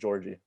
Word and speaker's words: Jaurji: It's super simple. It's just Jaurji. Jaurji? Yeah. That's easier than the other ways we're discussing. Everyone's like Jaurji, because it's spelled weird. Jaurji. It's literally just Jaurji.